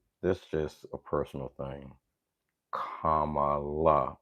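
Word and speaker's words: Kamala: it now if you were still pronouncing or mispronouncing her name you're doing it on purpose this just a personal thing commala it's not hard commala it's not hard okay I'm done with that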